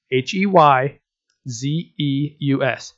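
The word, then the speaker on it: Heyzeus: and it's not spelled like you would expect it's spelled H ey ze u.s.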